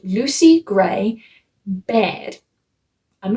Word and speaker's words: Baird: And his tribute that he is looking after is a girl called Lucy Gray Baird. I'm not sure if that's how it's pronounced, but that's how it's spelled.